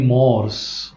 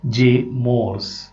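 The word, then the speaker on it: Morse: Name of the poet is जे मोर्स. मोर्से म्हणायचं नाही, बरं की नाही, काय म्हणायचं? जे मोर्स, असं त्याचं प्रोनन्सिएशन आहे.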